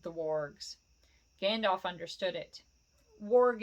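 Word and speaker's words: warg: orgs Gandalf understood it worg is spelled w-a-r-g by the way Gandalf understood it Bilbo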